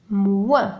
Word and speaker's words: moins: لدينا هنا و moins donc o i n ينطق moins.